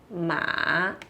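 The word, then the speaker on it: 马: Pois bem, o ideograma de cavalo, ele tem um som de ma, tá?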